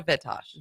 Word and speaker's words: Vitosh: Vitosh. Vitosh. Okay, so the accent on the front part.